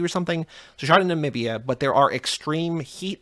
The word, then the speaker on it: Namibia: I feel like I said it right the first time. I just kind of slurred it, but Namibia.